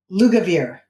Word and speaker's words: Lugavere: And Max, let's see if I can say it right, Lugavere. Yeah, perfect. Yay!